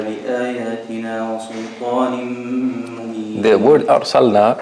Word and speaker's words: أرسلنا: The word أرسلنا, make sure you pronounce the lam properly.